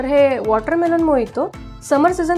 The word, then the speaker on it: Mojito: बताऊंगी कि मोहितो , लोग spelling M O J I T O हैं, इसलिए वे इसे Mojito कहते हैं लेकिन ऐसी बात नहीं है इस पेय को बाहर मोहितो हि कहा जाता हे मोजितो ये क्यूबान का